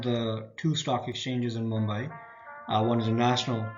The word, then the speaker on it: Mumbai: by by Western forces they couldn't say Mumbai so they just called it Bombay uh which was a wrong pronunciation however the right pronunciation is Mumbai and therefore is now spelled that way Sobo or South